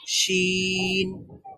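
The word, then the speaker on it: شين: আর শিন বলার সময় কিন্তু পুরোপুরি লাগছে না।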